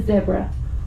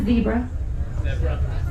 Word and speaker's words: zebra: And just also a caveat, when you get to South Africa, it is called a zebra. Please, not a zebra. Zebra. It's ours. Zebra. Say it right.